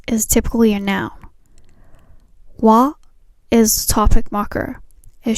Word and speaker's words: は: The hiragana character ha is usually pronounced ha, but when it's used as a particle, it's pronounced wa. X wa Y des in this structure is acting as a particle, so we pronounced wa.